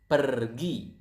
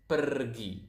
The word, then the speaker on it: pergi: Go is pergi. So as you can see here, we pronounce the R quite clearly. So it is kind of like Spanish.